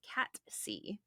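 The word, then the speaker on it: Cat Sìth: Star Wars but actually it is cat C it is not th cat c um I looked it all over the internet I looked for all the pronunciations Scottish Gaelic um come here Celtic uh Irish all of it um there's different versions of it but none of them have the th at the end I was seeing the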